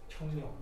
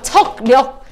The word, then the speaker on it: 척력: 청력. 청력 같은 소리 안 해, 이! 밀어내는 청력이야? 청력이죠. 나 놀리는 줄 알았어. 이 청력 얘기하는 줄 알았어. 척. 척력. 야, 그러면 발음을 척력이요 이렇게 얘기해야지.